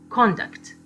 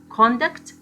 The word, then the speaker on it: conduct: pronounced conduct this is a noun we have the stress on the first syllable conduct or conduct this is a verb the stress is placed on the second second syllable the second syllable is more prominent than the first so we have conduct and conduct also contact this is